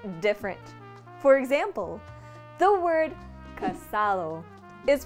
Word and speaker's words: casado: Dominican Spanish is that the D is silent in words that end in ado or ada, ido or ida, and edo or eda, making them sound completely different. For example, the word casado is pronounced casao, dedo